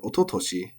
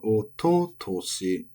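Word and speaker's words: 一昨年: Moving on to the year words, we have ototoshi, which is nakadaka, so ototoshi. And unlike ototoi, it does not have any of the weird adverb changes. It's always ototoshi.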